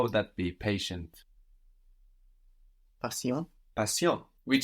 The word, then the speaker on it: patient: patient be in French the ti of patient that sounds sh in English here it sounds like an s in French TI sounds like SI there so how would that be patient passion which sounds very much